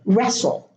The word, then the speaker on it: wrestle: In the last two words, each word has two silent letters: the T in the middle and the W at the beginning of the word, wrestle. The W is not pronounced.